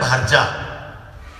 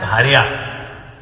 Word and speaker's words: भार्या: ऐसा बोला गया अरे संस्कृत में पत्नी को भार्या बोलते हैं। बांग्ला में उच्चारण है भारजा। शब्द है भार्या भार्या को जो बोलते